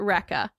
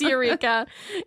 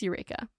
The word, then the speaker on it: Eureka: yes I think you did I called it Rea yeah I think so and it's Eureka it's spelled ridiculously so ignore it's Eureka yeah okay cool the second correction is that